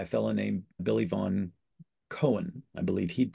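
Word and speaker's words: Koen: the Method by a fellow named Billy Von Cohen. I believe he'd pronounce it that way.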